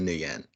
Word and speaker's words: Nguyen: So, what did you think of Katrina Nguyen? I'm sorry, Katrina Nguyen is how it's pronounced.